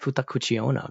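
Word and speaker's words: 二口: is said well pronounced whoever just said that futak Kucha very well pronounced although although I think the kanji is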